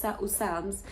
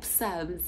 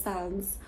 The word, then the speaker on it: Psalms: So today I was reading Psalms. I'll imagine a Zulu girl is saying Psalms, like I am pronouncing the P. I know it's a silent P, but so today I'm reading Psalms 139 for the choir director, a Psalms of David.